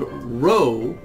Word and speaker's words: rho: It's called rho, and it kind of looks like a capital R with the leg missing.